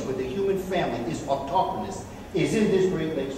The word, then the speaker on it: autochthonous: This is the only place, the word is, may not be pronouncing it the way in which some people do, autochthonous.